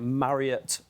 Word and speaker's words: Marriott: I need to make sure I get Marriott right.